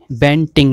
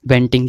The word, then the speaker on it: Banting: Next insulin की खोज बेंटिंग ने की थी, ये स्पेलिंग है उसकी, बेंटिंग, जो यहाँ पे लिखा है बेटिंग, ये बेटिंग नहीं है, वेंटिंग।